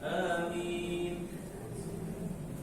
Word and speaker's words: amin: Tapi kalau kita ingin membacanya dengan cara yang benar, kita sesuaikan kata amin dengan kata yasin. Yasin, amin.